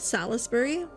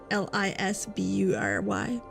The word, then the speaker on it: Salisbury: It's spelt Salisbury. Salisbury.